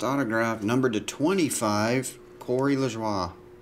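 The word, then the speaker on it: LaJoie: number to 25 Corey lejoie I'm assuming that's a French pronunciation Corey Les schwa not La Joy Bubba Wallace green there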